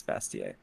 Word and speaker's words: Bastiat: we started talking about Bastiat. Yeah. Is it Bastiat? Choices. Is it Bastiat? I always thought it was Bastiat. He pronounces it Bastiat, but in French it's Bastier.